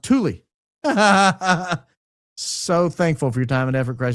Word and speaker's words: Thule: But I'm pretty sure the air-based Thule is pronounced Thule.